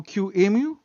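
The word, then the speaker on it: QEMU: a a chat about Q emu especially because we will have a discussion about the naming is it anymore we don't know how to pronounce yeah it's basically emulation so Q Amu but yeah yeah and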